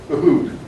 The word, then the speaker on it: Uhud: Uhud. It's spelled there, U-H-U-D.